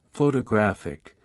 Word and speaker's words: photographic: For example, in the word photograph, the stress is on the first syllable, while in photographic, the stress shifts to the third syllable.